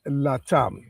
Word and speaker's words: LaTham: So the the the the original pronunciation of the name uh based on coming from Jamaican roots and Barbadian roots, you know, I I had to change the rhythm like capitalizing the T in in the last